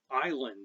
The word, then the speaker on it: island: array of interesting errors island is very familiar and the silent essen island trips people up all the time we wonder why it's